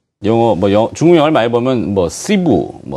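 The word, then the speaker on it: 师傅: 자, 중국 하면 우리가 익숙한 영어, 중국 영어를 많이 보면, 시부, 네, 따커, 예. 발음은 제가 시푸라고도. 네, 시푸, 따커, 이런.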